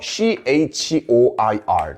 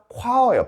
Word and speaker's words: choir: choir예요. 발음이 choir. 이거 보세요. choir. 이거는 합창단이야. 비슷하게 생긴 단어로 우리가 듣기 평가나 볼 때 조심해야 돼요. 이건 초어예요. 이건 키읔, 이건 치읓입니다. 이건 초어예요. 초어.